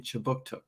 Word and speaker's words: Kjipuktuk: But before we begin, I'd like to acknowledge that Right Start Newcomer Services conducts business in Kjipuktuk, which is how you say Halifax in the Mi'kmaq language.